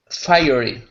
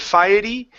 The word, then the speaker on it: fiery: Fiery. Fiery. There you go. Good. A pile of fiery red something. Pile of fiery red something. Ah, give me a good R instead of firey.